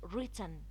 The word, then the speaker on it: written: written wrists wrinkled ranch i did not pronounce the w here in the word written because it's silent it was followed by